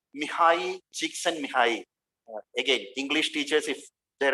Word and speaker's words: Csikszentmihalyi: But actual pronunciation is just Mihai Csikszentmihalyi, and he is a great positive psychologist.